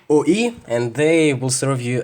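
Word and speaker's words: 오이: This combination of letters means cucumber or ogurek, and it's pronounced OE. So if you ever come to Korea, you can go to any restaurant and say OE, and they will serve you a cucumber.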